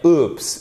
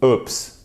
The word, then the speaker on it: oops: Alors, oops, vous pouvez le prononcer avec un ou court ou un ou long. Vous pourrez dire oops ou oops.